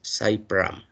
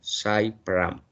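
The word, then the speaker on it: Sully Prudhomme: Es Cy Pram, no se olviden, ¿no? Cy Pram. Se escribe Sully y Prodme, ¿no? Pero se pronuncia Cy Pram.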